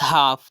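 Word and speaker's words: half: पहले सैंपल हमारे पास हाफ तो यहां पर हम देख सकते हैं की ल ए एन एफ के दरमियां आया तो हमने ल को साइलेंट कर दिया सेकंड एग्जांपल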